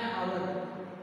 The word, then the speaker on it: hour: Here also an hour.